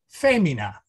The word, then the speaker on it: femina: is our first word femina the accent is on the fe because the e is long the i is short so we move from the second to last to the third to last vowel and this is a